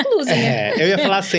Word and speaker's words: Klusener: Klusener. Eu iria falar certo. É porque o pessoal vê um K e aí já cria um monte de coisa, né? Mas é Klusener.